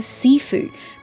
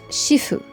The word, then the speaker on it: Sifu: I was just struck on the spelling. I'm like, Sifu? What the fuck is a Sifu? But she pronounced it Shifu.